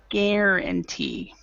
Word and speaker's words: guarantee: Now, as far as pronunciation for that, Anna, um the is it still under guarantee? So, the the U is silent. Guarantee.